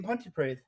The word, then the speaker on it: Pontypridd: Yeah, I used to live up the way in Pontypridd.